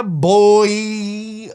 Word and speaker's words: buoy: I don't like it yeah boy that's how it should be said this is one of